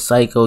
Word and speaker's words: psycho: dr phil destroys this psycho kid why is psycho spelled with the p this english language is just weird but y'all go ahead